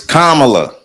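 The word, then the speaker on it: Kamala: want to say that say her name it's kamla so I don't say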